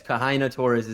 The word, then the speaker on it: Kahaina Torres: Tell me what you know, and pronunciation, Houston Kahaina Torres? Yes, Kahaina Torres is that. You got it.